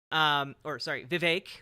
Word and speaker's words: Vivek: Vivek rhymes with cake Ramaswamy.